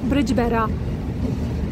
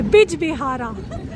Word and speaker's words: Bijbehara: And rolling into the next station, which is Brijbehara. I hope I pronounced that right. It's Bihara. Okay, Bijbehara. God, the names.